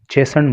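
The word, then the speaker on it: chastened: मिफ्ड अर्थात नाराज, और चेसन्ड, चेसन्ड मतलब दंडित। तो यहाँ पे टी जो है साइलेंट रहता है।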